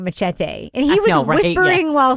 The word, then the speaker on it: machete: way, machete is also a word in English. Just FYI. Not machete. Machete. You have to say it right.